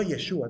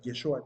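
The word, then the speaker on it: ישוע: pregunté con traductor verdad Cómo se pronuncia el nombre de Jesucristo de Jesús y me respondió yeshúa también o sea yeshua dicen ellos y eso en el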